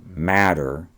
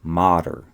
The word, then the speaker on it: mater: Again, it's not matter, it's mater, only a single T.